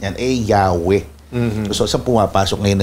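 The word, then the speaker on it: Yahweh: m pero pinapaniwalaan ang wika talaga ang wastong pagbigkas niyan eh yaw Mm.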